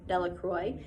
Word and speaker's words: Delacroix: Bobby and Harry Jones and Dickie Delacroix, the villagers pronounced the name Delacroix, eventually made a great